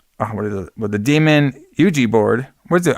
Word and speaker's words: Ouija: is it the demon Yuji board what it how do you say that Yuji Anie board I say it I say it Ouija Ouija that's what I was